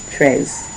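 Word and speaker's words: treize: Tres.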